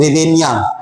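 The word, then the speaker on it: Hryvnia: H silent रहता है और पढ़ते हैं इसको हम लोग रिवीनिया, है ना।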